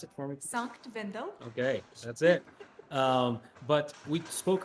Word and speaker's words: Sankt Wendel: broadcasting the Leonhart World Championships, which is in, pronounce it for me, please. Sankt Wendell.